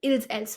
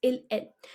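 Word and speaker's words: ils, elles: Now over here, I don't pronounce the S of them. Il's, else. No, it's il, elle.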